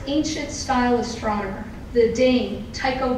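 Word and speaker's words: Tycho: style astronomer The damee Tao brah I'm told that's pronounced Tio but that just sounds like Garling um in the late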